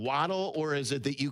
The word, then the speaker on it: Waddle: Sometimes people pronounce it for some strange reason. Wadel.